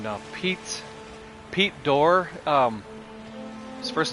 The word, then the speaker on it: Dorr: Pete Dorr. His first name is Pete, P-E-T-E. His last name is Dorr, but it's spelled D-O-R-R instead of D-O-O-R, like a door, a doorway. It's D-O-R-R.